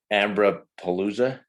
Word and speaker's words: AmbroPalooza: the uh i'm going to say it wrong ambra palooza that's right is that did i say that